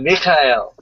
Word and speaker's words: Mikhail: i gotta have it mikhail that of course that ch is pronounced like you know you're trying to hack up something but it's a red